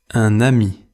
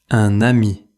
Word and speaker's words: un ami: Dans un ami, le n final se fait entendre. Écoutez : un-n-ami. Répétez : un ami.